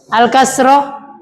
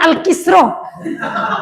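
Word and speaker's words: الكسرة: Yang ketiga, alkasrah. Nah, nih jangan salah ungkapkan baik, jangan alkisr karena kafnya selalu ka, sinnya sukun. Jangan alkasiro.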